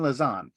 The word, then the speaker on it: Lazan: your last name incorrectly Karen lazan that's correct I practiced that for 30 minutes last night two syllables so the other Karen